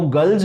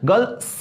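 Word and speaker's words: girls: उच्चारण है, प्रोनाउंसिएशन है, तो गर्ल्स को गर्ल स नहीं, गर्ल्स, गर्ल्स होता है एक्चुअल, इसका जो करेक्ट जो प्रोनाउंसिएशन है वो ज होता है, ठीक है, लेकिन यहाँ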